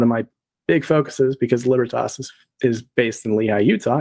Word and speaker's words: Libertas: It's actually pronounced Libertas, but the phonetic spelling is L-I-B-E-R-T-A-S. It's Libertas.